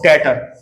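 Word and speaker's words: debtor: तो डेटर डी बी टी आर टी ओ आर 20 साले को डेटर बोलते हैं। ठीक है? प्रोनाउंसिएशन भी सही होना चाहिए हमारा अकाउंट्स में।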